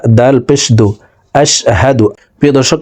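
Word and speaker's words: أشهد: জবর হা দাল পেশদু আশহাদু প্রিয় দর্শক আমরা অনেকে এই শব্দটিকে এভাবে পড়ে থাকি আশশাদু পড়ে থাকি এখানে আশশাদু হবে না হা হরফের উচ্চারণ হলকের শুরু থেকে হবে।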